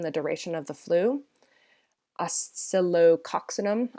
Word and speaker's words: Oscillococcinum: Oscillococcinum, I believe is how it's pronounced. It's a difficult one to say.